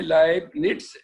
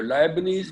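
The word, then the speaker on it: Leibniz: टी नहीं डरा हुआ, लेकिन असल में इसका नाम है लाइबनिट्स NITZ। तो लाइबनीज भी पढ़ते हैं।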